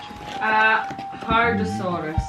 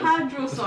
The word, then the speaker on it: hadrosaurus: I said it wrong. It's a hadrosaurus.